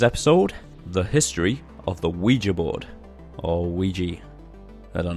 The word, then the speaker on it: Ouija: bit of research and I think the correct pronunciation is Ouija that seems to be the most accepted pronunciation but sane I've also found that a few of the pronunciation sites also call a Ouija so I've come to the decision that both pronunciations are ok you know just pick